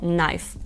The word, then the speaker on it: knife: наприклад у слові NE або є ще слово Knife А ще літера L вона так само може